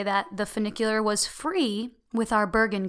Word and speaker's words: funicular: said like that so we took a vernacular up its Avenue cooler is like a bus not vernacular fun knick Euler so I always forget how to say it funicular and it's like a